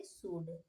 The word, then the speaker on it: should: अब क्या हम इसे शुल्ड पढ़ेंगे? नहीं, इसे हम पढ़ेंगे शुड।